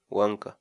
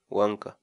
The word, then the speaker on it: wank'a: series videos where we teach you how to pronounce certain words in Quechua so our word of the day for today is Wonka Wonka Wonka in English the Quechua word loca means